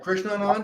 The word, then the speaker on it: Krishnanand: But Krishnanand is a very Sanskrit name. So, but you got them both right. Krishnanand is how you pronounce that, and is my birth name, my Western name.